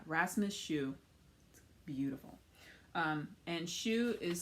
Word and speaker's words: Hsu: pretty okay yeah rasmus shoe beautiful um and shoe is spelled s s-h-u no s-s-h-u h-s-u it's pronounced shoe um but the schuyler shawl scarf was that